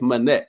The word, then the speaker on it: Minnect: Instead of connect, it's Manek. So MINNECT, like a minute. I need a minute of your time.